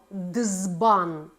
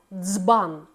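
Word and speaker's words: дзбан: перетертий звук дз тобто коли ми говоримо наприклад візьмемо слово дбан Ми не говоримо дизбан Ми говоримо дцбан і дуже великою орфоепічною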